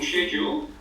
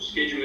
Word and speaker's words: schedule: You need to have a working schedule, or schedule as the Americans say, and then what you